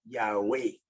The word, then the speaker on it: Yahweh: están aquí pero ese ese nombre se pronunciaba originalmente yagüey y luego por la